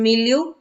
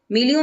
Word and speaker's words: milieu: now this word also has a very different pronunciation milieu milieu means the social environment okay that you live